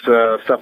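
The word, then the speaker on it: Stuph: is now called The Stuff File, and stuff is spelled S-T-U-P-H, which are my initials, right?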